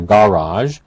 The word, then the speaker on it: garage: an alternative pronunciation a garage it can be pronounced either way for those who are interested in the history of the language we have borrowed a lot of words from french such as garage of course that's the